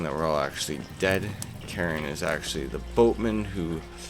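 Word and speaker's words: Charon: named karen c-h-a-r-o-n because i don't think it's charrin or anything like that it's pronounced karen and then she says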